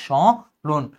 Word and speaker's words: স্মরণ: বাট যেহেতু এটা ম ধ্বনি, আমার এখানে এই নাসিক্যটা দেখানোর জন্য আমার এখানে চন্দ্রবিন্দু দিতে হবে, উচ্চারণ হবে স্মরণ, স্মরণ।